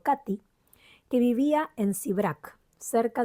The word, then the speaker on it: Kate: la que me contó mi tía Kate, pronunciado Katy, que vivía en Sibrac, cerca de Don Bobar, en Hungría.